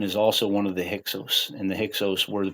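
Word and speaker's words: Hyksos: So after Aenatan gets thrown out and the Hixos the Hixos were the the you know the Greeks pronounced it Hixos.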